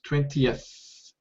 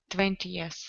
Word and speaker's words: twentieth: and voiced yeah so this th sound is voiceless 20th 20th okay and your tongue